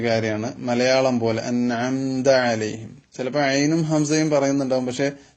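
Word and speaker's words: عليهم: നബി സലാം അലൈക്കും എന്നിങ്ങനെ ലേ ലേ എന്ന ഒരു എകാരത്തിലേക്ക് പോകാറുണ്ട് അത് ഇവിടെ അനുവദനീയമല്ല കാരണം ലാമിന് ഫത്ഹ് ഇട്ടാൽ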